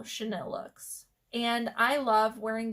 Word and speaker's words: Chanel: in your titles okay the next word is Chanel and I think I'm pronouncing that correctly it might be Chanel but it's spelled CH e and I ll e and this